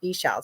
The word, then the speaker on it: Ixchel: So it's Eshell 17 because they said hello, and that's how the IXCHELL is pronounced, Eshell.